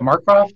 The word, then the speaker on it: Marcroft: Is it Marcroft?